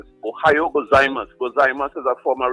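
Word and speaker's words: ohayō gozaimasu: The right way is Ohio gozaimasu.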